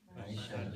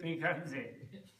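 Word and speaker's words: Bhaiṣajya: Bhaisajya. And that's spelled Bhaisajya. Bhaisajya. But Tibetans say Bhikkhante. The sha sound, they go ka.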